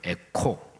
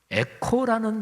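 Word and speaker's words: ἔχω: 헬라어 발음으로 에코라는 동사입니다. 에코, 메아리 이런 뜻 얼른 떠오르시죠? 근데 정확하게 헬라어 발음에서 에코, 크 발음만이 아니고 히읗 발음이 거기 같이 포함된 단어인데 우리말에 크 발음과 히읗 발음을 같이 포함하는 모음이 없지요. 영어도 마찬가지예요. 그래서 헬라어 그 자음은 CH로 영어에서도 두 글자로 해서 표현하는데 어쨌든 편하게 에코.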